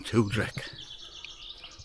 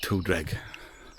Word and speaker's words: Tewdric: This is a story about a Welshman from Gwent, a king from the 6th century, and his name was King Tewdric, or Tewdric. It's been different pronunciations.